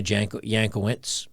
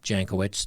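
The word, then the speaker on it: Jankowicz: will be led by Nina yankowitz jankowitz depending on how you want to pronounce it a disinformation expert who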